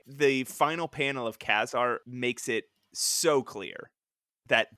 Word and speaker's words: Ka-Zar: It is not Ka-Zar, like you just said. On the very first page, pronounced Ka-Zar.